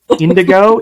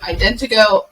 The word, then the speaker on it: IdentoGO: the company that you work with I would mispronounce it it's Indigo Indiegogo okay you're close Morgan do you want